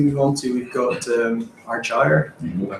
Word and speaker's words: Argyre: And the next slide we move on to, we've got Argyre. I pronounced it right.